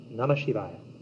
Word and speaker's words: Namasivaya: Now there is another very well-known, very famous mantra, the famous Panchakshara mantra, the 5 sacred syllables, Na, Ma, Shi, Va, Ya, NAMASIVAYA.